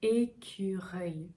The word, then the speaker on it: écureuil: Là aussi, comme accueil, la langue reste vers le bas et l'avant, ça ne bouge pas. Écureuil. Vous voyez, la bouche, la mâchoire, ce qu'elle fait, c'est et, très, très crispé, et, on relâche un peu, reuil, on relâche encore, écureuil, écureuil.